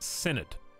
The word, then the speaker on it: synod: It's pronounced synod.